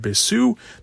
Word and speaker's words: Bisou: The movie is based on an original idea by James Wan and Bisou, that's how you pronounce that last name, who came up with Malignant.